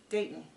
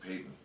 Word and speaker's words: Dayton: adoption that comes later his name Dayton okay I think you said Peyton oh very confused I'm sorry Dayton if I said it wrong because they kind of rhyme so when Robin's son